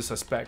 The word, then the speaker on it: suspect: 这个词，它有两个发音哈。如果动词 suspect，如果是名词的话，就嫌犯，那它的发音变成 suspect。